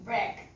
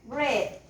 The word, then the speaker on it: bread: Break. Bread. Bread with D at the end.